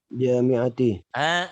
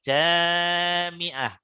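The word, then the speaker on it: جامعة: Jami'ati. Benar, jami'ah. Tadi membacanya jami'ati. Awas, hati-hati. Padahal yang panjang di situ setelah jimnya. Jimnya ya, jimnya ada alif jami'ah.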